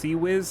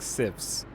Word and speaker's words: CIWS: the wave I've always found it weird that CWS is pronounced cwiz instead of like civs is it c s